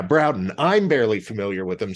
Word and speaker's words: Broughton: for those not familiar who is the Edgar routing band is that the pronunciation Broughton I yeah browden I'm barely familiar with